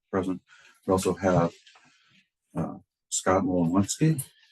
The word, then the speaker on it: Wolowski: We also have Scott Wolowski. Is that the right last pronunciation? Phonetically, the W is pronounced like a B.